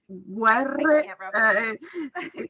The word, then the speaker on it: Guerre: And Guerre stellari. Guerre. The difficulty is the R for you, yeah. Guerre stellari.